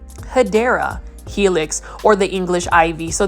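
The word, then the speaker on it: Hedera helix: you ready to um say it with me HRA helix or the correct way to say it is hadera helix or the English ivy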